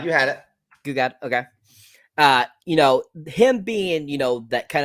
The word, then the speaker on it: Gil-galad: Gil-galad, you had it. Gil-galad, okay.